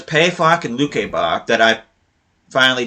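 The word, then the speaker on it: Pefok: too, and it also has to do with pronunciation. I've been saying PFOC this whole time. It's actually supposed to be PayFOC. So it's PayFOC and Lukebach that I finally did research and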